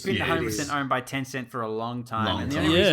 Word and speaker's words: Tencent: um scummy streamers but tencent is that how you pronounce that yeah yeah yeah he's apparently building a